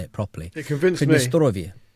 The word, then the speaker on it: Pridnestrovie: It's called uh Pridnestrovie. And the um and I'm in very much enjoying saying that with like a slightly rolled R like I know what that means or how to say it properly.